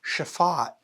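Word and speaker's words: שפט: Judges is a confusing translation choice because the word pronounced chafat in Hebrew carries the broader meaning of to rule or to govern.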